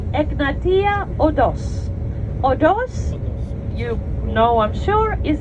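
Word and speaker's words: οδός: o d o s odors is how we say it in Greek e g n a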